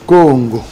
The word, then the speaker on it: Congo: Congo, c'est une contraction de deux mots pour dire Ko, c'est-à-dire issu de, et Ngo, c'est-à-dire l'emblème de notre pays qui venait du léopard. Voilà, Congo, c'est ça la meilleure prononciation.